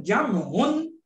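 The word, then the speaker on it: جمع: যাচ্ছি তাসনিয়া তাসনিয়া আর জামউন এটা একটু ব্যাখ্যা করি তাহলে মনে থাকবে অনেক লোক জমায়েত হয় না আমরা যখন বলি জামা বলি জামা জামা টোটাল কারেক্ট প্রোনাউন্সিয়েশন জামুন তারপরে যদি জামুন আমি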